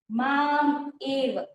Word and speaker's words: मामेव: अंत काले, अंत काले च च माम एव, ठीक है, माम प्लस एव।